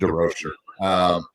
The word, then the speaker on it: DeRocher: So, the only time I actually say it like that is because I'm speaking to a Canadian. Otherwise, it's just DeRocher.